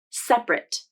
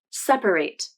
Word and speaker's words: separate: adjective as two syllables separate here's the verb you need to separate them into two groups i pronounced the verb as three syllables separate let's focus on the